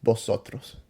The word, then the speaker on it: vosotros: Yeah, I don't know if I say the correct way. Vosotros. Exactly. You know better than me. Liz doesn't even know how to say it, but you can trust me. It's vosotros. Yeah, vosotros.